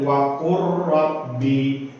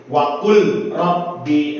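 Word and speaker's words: وَقُل رَّبِّ: Nah, kita nggak boleh membaca dengan seperti ini. Waqul rabbi, nah itu nggak boleh. Tuh, jadi yang kita harus kita pahami yaitu cara bacanya dengan apabila lam sukun berhadapan dengan huruf ra, maka suara lam sukun masuk pada huruf ra.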